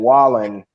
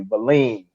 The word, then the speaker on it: Wallin: And Wallen, I know I'm pronouncing his name wrong because they were saying it another way. Valin is what they were saying, Valin.